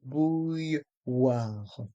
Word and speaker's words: bouilloire: Le son OU avec les lettres O et U, le son YE avec les lettres I, 2 L et le son WA avec les voyelles O et I. La bouilloire, la bouilloire. Le R de bouilloire reste en suspens.